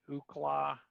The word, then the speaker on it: Ookla: So the FCC, if you've ever used like the Ookla, that's how you pronounce it.